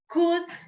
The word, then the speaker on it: could: Remember that the words would, could, la letra L no se pronuncia. Es una silent letter. Would, could.